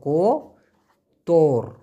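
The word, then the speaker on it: kotor: থাকে তাহলে হবে কোতর কো তোর উচ্চারণটা হবে কোতর কোতর মানে হলো অপরিষ্কার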